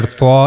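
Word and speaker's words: ط: Now the origin of letter T is here. As you can see here, the origin of the letter TA is top of the tip of tongue and it will connect to the gum line of the two front upper incizes here.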